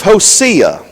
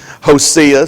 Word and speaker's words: Hosea: over the book of Hosea I'm using Rex Turner seniors pronunciation Josias some people say Hosea I go bro Turner Hosea host see a chapter 12 verses 3